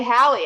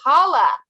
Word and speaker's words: Halle: I was going to say Halle. I was going to pronounce her name wrong. Can you believe that? It's Halle.